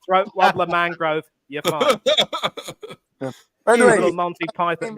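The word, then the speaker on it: Raymond Luxury-Yacht: as your name is not Raymond luxury yashed and pronounced throat wer Mangrove you're fine little Monty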